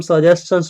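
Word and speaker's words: suggestions: है हम इसको हम सजेशंस पढ़े जैसे क्वेश्चन एसटी एन को च पढ़ते हैं ना यहां पे वैसा ही एसटी एन को च पढ़ेंगे ओके यानी सजेशंस नॉट सजेशन okay pronunciation होगा तो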